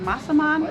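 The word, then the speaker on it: massaman: We're on to menu 2 and we're making masaman curry.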